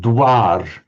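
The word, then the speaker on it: द्वार: Let me just um modern Hindi dir Sanskrit and pi dara so written with a dv because it's the same phone essentially the same sound but in that position pronounced as a w.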